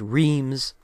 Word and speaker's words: Reims: 15th of July was at Reims, which the Americans pronounced Reims.